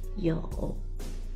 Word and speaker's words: 有: today I will teach you a new word yo yo yo yo it sounds like you you yo is the third when you pronounce the O you need to open your mouth first oh and then 40-inch